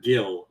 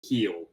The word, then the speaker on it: Gil: One thing, it's not Gil, it's Heel.